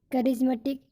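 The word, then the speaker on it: charismatic: लेकिन कुछ ऐसे शब्द हैं, सम एक्सेप्शन वर्ड्स, जहाँ पर रूल लागू नहीं होता और सी एच का उच्चारण च ना हो करके का होता है। जैसे कैमिलियन है ना, जैसे करिश्मेटिक।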